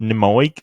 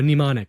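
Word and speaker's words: Mnemonic: memory PL like dude I'm sorry if I mispronouncing like the the song names but neic like oh nimonic nimonic sorry it's okay yeah Dad and listen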